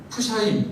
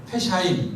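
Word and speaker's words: פשעים: 그래서 푸샤임 혹은 어 푸가 아니고 약간 좀 약한 애 발음 넣어서 페샤임 이렇게 하면은 죄들이에요.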